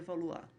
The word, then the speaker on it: Valois: Se escreve Valois, mas se lê Valois.